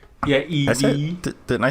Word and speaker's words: Eevee: I think that name is pronounced Eevee. Yeah, Eevee. Didn't I say Eevee? You said No, Eve.